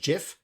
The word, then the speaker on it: GIF: that gif is like the creator of gif says it's supposed to be pronounced jif yeah in what [